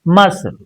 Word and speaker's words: muscle: Now C is silent. If you look at this word MUSCLE, it's muscle.